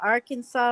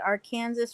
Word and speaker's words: Arkansas: and if you ask a Kansan whether it's the Arkansas River or the Arkansas River they're going to tell you it's the Arkansas River and if you call it the Arkansas River here you're in deep doo doo I never really thought